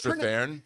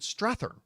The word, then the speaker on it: Strathairn: you were mentioning David Strathairn, and it's like, I haven't told you this. My whole life, I've always called him David Strathairn, but it's Strathairn.